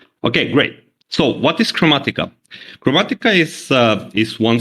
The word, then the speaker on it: Kromatika: kinda uh mentioning them so the spelling was kind of wrong so it's it's uh pronounced chromatica chromatica lovely right right it comes actually the name comes from automatic so it's a it's a word play chromatic automatic a little bit so let's start